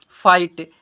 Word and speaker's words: fight: अब यहाँ पर और में, और के बाद क्या है, तो GHT में आए GH हमेशा साइलेंट होता है, GHT में आए GH हमेशा क्या होता है, साइलेंट होता है।